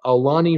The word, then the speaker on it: Aulani: Alani is saying, even though I get a kick out of you trying to say my name, it's just like the Disney Alani Resort in Hawaii, if that helps.